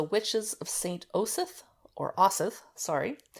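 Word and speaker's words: Osyth: today is the witches of Saint Joseph or asith sorry it's by Marian Gibson and it's spelled o-s-y-t-h it's a haunting story of a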